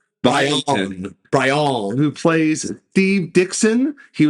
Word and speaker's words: Brion: Brian James, which by the way, his name is spelled Brion. So I keep on saying Byron. Brian.